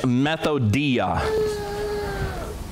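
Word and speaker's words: μεθοδεία: this word strategies as methodia methodia well you ought to get a clue right off the first the first syllable is meth anybody that is messing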